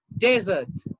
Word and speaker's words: desert: noun or an adjective or a verb the pronunciation may change so look at this one you say desert desert desert okay desert means when where there is no water for